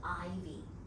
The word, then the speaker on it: Aivee: OK，我想知道你為什麼用這個英文名字 Aivee Hsu？Aivee 什麼意思吧？Because of Portuguese，因為葡萄牙語的發音 AIVEE 剛好是 Ivy。